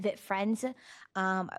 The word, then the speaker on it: Vit Friends: I am hoping I pronounced is it Vit Friends or is it V-I-T? Vit Friends. Okay. I wanted to make sure. So point of correction, Vit Friends.